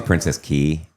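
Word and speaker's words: Princess Cay: It's actually Princess Key. It's spelled K, but it's pronounced key.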